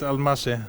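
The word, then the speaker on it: Almási: that's your countryman yes so that's how we pronounce it al Masha yes we pronounce the S as a like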